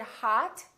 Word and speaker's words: hot: for example the word hot h-o-t we don't say hut we say hat it's pronounced exactly as the ah in the words father or army or watch so the o and